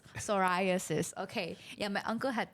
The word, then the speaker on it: psoriasis: yeah it's okay now I know how to pronounce psoriasis psoriasis okay yeah my uncle had that and then